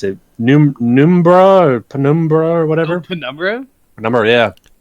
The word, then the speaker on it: Penumbra: That how do you pronounce it? Numbra or Penumbra or whatever?